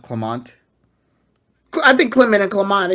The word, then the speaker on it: Clemont: why an x y they when they say clement when his name is pronounced clemont i think clinton and clement it's it's like